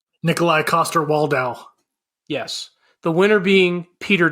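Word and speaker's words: Nikolaj Coster-Waldau: Nikolai Coster-Waldau.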